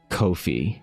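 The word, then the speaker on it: Ko-fi: I'm glad they say it is pronounced Kofi. Rhymes with no fee.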